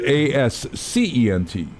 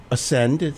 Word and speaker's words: Ascent: Ascend. They say ascend rather than ascent.